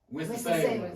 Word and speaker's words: Winston-Salem: Winston-Salem.